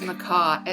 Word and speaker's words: McKay: it's Mackay. It's Mackay. Oh, Mackay, okay. Mackay, yeah, that's how the Scottish pronounce it.